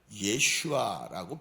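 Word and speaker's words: ישוע: 그런데 이 헬라어 발음에서 예수님을 뭐라고 그러냐면 예슈아라고 표현을 합니다.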